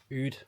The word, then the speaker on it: Oud: aftershaves is something called Oud, although it's written or it's spelt Mood, it's pronounced Oud. The M is silent, and the flavour, or